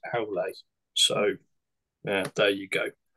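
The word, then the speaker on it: Aulë: But apparently that should be pronounced Aule.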